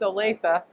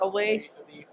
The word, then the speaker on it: Olathe: So I want to make sure people understand it's pronounced Olathe, not Olathe.